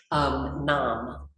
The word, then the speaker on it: Nam: Nam, and N-A-M, but like mom.